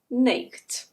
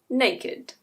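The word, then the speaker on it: naked: If you followed the rules, you would pronounce this word /ˈneɪkt/. But as I'm sure you probably know, it's actually /ˈneɪ.kɪd/.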